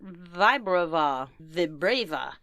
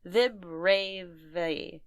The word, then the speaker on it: Vibrava: Well, looking at it phonetically, with the B and the R together, the syllable would have to be split there, giving the I the I sound. I understand. And then Ra and Va, it would have to be Rava, Vibrava. I think that's how phonetically it would be.